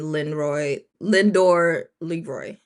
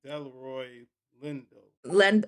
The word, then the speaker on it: Delroy Lindo: Jordan and Lindor Leroy. That is how you say it. His name is It should be Delroy Lindo.